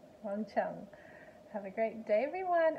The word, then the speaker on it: Wang Qiang: I am G Q in Mandarin is always pronounced sure so it's one Chun one Chun that's her name one Chung have a great day everyone oh and if